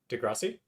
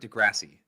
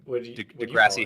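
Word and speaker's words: deGrasse: was um a Neil Degrassi Tyson episode where they he demonstrated thatass de Grassi I've never heard it de Grassi like de grassy Hill degrass always heard it Neil degrass Tyson Neil deg grassy Tyson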